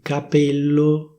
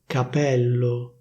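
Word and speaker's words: capello: Instead of /capéllo/, they say /capèllo/, /capèllo/.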